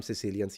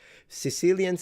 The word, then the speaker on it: Sicilia: that area right there pronounce the C like a G. So they'll say Sigilia like a G.